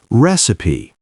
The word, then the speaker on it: recipe: Recipe has 3 syllables, and we stress the first one, recipe.